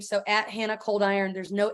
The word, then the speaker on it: Coldiron: name so at Hannah coldiron there's no h at the end and it's hot iron but cold so that's how you